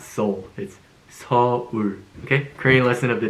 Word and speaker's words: Seoul: It's not Seoul, it's Seoul, okay? Korean lesson of the day. Seoul. Okay? Seoul. Can you see that? S sound, O, U, L sound. Seoul.